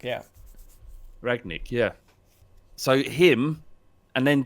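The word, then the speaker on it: Rangnick: I don't even know how to pronounce his name. It's Ragnick. Is it Rag? Yeah, Ralph Ragnick. Yeah. Ragnick.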